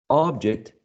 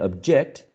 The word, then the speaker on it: object: And there are some examples here, like, for example, contract and contract, object and object, in which the first one, which is a noun, right, has the first syllable stressed, and if you are stressing the second one, you are actually using a verb, right?